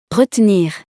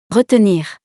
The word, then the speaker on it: retenir: Retenir. Retenir. Both are correct. You can choose whether you pronounce the second E, or not.